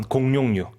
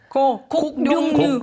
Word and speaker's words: 곡룡류: 아까 자기 발음하기 어려웠던 공룡류. 곡룡류. 곡룡류예요. 네, 곡룡류.